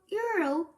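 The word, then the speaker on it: Euryale: Channel smile River but Euro she said the name so it rhyme with Mario can't I give him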